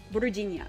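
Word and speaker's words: Vinnie: it's this no okay vinia okay yeah yeah yeah so it's with a soft G Virginian huh oh cool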